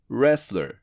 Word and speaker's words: wrestler: restler wrestler 。ちなみにこの W と T はサイレントです。